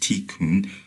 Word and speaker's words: tikkun: in the East karma, and by Kabbalist tikkun, pronounced tikkun, put out good and you will receive good.